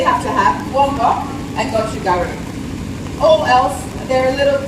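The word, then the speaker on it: 고춧가루: That's called gochugaru. Is that how you say it? That's how I say it. It's gochugaru. Yep.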